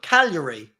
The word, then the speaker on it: Cagliari: No, Cagliari.